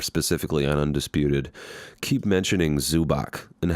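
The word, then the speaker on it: Zubac: zu Bock for the I don't know how people pronounce it zu BOTS but it's spelled zu BAC so I want to say that they probably know what the pronunciation is so I'm just gonna go with zoo BOTS the way everybody else says it the zoo BOTS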